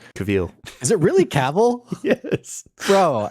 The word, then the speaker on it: Cavill: Clearly, I'm not good at pronouncing names. Cavill. Is it really Cavill?